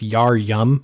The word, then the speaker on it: Yarum: it becomes old yarum it was actually pronounced Yar yum for a while but it's been lost to translation Yar yum bung born